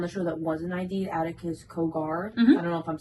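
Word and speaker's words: Aticus Cogar: who was on the show that wasn't ID Adakus Kogar. I don't know if I'm saying that. Am I saying it right? Attakus.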